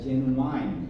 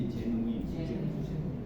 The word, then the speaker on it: genuine: check genuine genuine okay there is a uh tendency to pronounce it a genuine but it should be genuine meaning authentic we entrepreneur